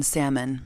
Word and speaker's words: salmon: he owns flip-flops period he pronounces the l in salmon if at any point